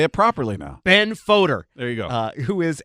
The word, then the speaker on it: Fodor: gonna hear that coming up next to Ben Fodor it's voter he was born in Texas yeah grew up